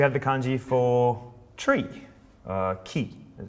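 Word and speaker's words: 木: Next we have the kanji for tree, ki, as it's pronounced in Japanese. Or, what is it, boku or moku, as in like mokuyobi, Thursday.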